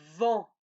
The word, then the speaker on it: vent: Attention, regardez bien comment ça s'écrit. Ça va? Donc le premier, c'est le O, vont. Le deuxième, le A, vent.